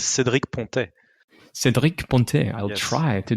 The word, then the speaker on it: Cédric Pontet: My pronunciation is not if you want the French accent, it's Cédric Pontet.